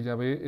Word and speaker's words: Yahvé: más fácil para saber que Yahvé es la mejor pronunciación, la mejor pronunciación en vez de Jehová es cuando nosotros utilizamos la palabra aleluya. Y vemos que se divide en dos, alelú y ya.